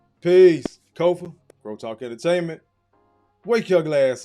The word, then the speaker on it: Kofa: I am your humble host, Kofa, K-O-F-A. Not coffee, not kufu, not kofi, or any variation thereof. Kofa rhymes with sofa.